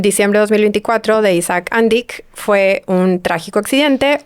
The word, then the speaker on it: Andic: Andich. Según yo es Andic. Okay. O mínimo todos los videos que yo he visto es Andic. Pero bueno, si se quieren poner fancies, Andich. Vamos a decir Andic.